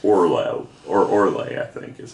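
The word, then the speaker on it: Orloj: J, but it's pronounced Orlay or Orlay, I think, is how you pronounce it. Orlay or or it was Orlay or Orlay, but either way, J was a Y.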